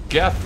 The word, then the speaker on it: Geth: uh I found out Jeff rhymes with death do you sense a